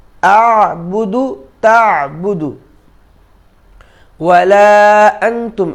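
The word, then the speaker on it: وَلَا: ওয়ালা আনতুম, এখানে অলা নয়, ওয়া। এর আগেও একটি সূরার মশকের সময় আমি এটা বলেছি। ওয়ালা আনতুম, ওয়ালা আনতুম আবিদুনা মা আ'বুদ। আনতুম আবিদুনা, আবিদুনা নয়, আবিদুনা মা আ'বুদ। ওয়ালা আনা আবিদুম মা আবাদতুম, আবাদতুম।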